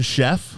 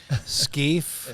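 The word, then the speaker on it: Scheff: lead singers of Chicago you got it Jason Chef uh-huh welcome thank you you pronounced that right there's a lot of people I've been called all kinds of things skeefe scaff Chef you win the prize buddy I love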